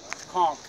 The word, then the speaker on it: conch: How do you say it? A conch? Conch. Yeah, conch. C-O-N-K.